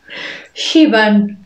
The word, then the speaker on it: Siobhan: but not least for the irish girl names shiban shiobar is the irish for joan how does